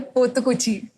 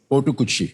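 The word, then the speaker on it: Potukuchi: सर, पोतुकुची। पोटुकुची। पोतुकुची, हाँ। की? । पोथुकुची। हाँ। पोतुकुची।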